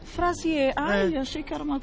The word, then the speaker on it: Fraisier: Olha, como se pronuncia? Frazier. Frazier.